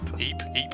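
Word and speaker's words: Ypres: It's pronounced Ype. Ype.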